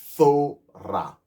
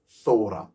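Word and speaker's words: תורה: That's why you hear me saying Thora, because the letter that's there, Wa, is no longer Wa, it's now a it's you write it the same way, but you just pronounce it not the same way as if it was the first letter of the word.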